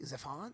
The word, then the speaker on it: Zephon: Yeah, this is Zephan, I think. Zephon? Zephan. I would say Zephon by my pronunciation.